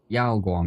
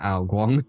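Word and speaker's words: Yaoguang: Yao Guong, not Al Guang. A Guangong is a Chinese god. Yao Guong is a star character.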